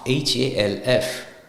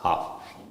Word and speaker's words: half: o m e right half h a l f right but when you pronounce it's half the L is not pronounced it's just half right castle c a